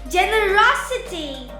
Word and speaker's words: generosity: When we come across words ending in ity or ity, we put the stress or place the accent before the syllable. For example, ability, Ability, capacity, capacity, generosity, generosity, sensibility, sensibility, charity, charity, clarity, clarity, trinity, trinity, electricity, electricity, university, university, speciality.